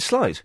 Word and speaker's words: sleight: Yes, Is it sleight of hand or slate of hand? How do you pronounce it? Well, you pronounce it slate.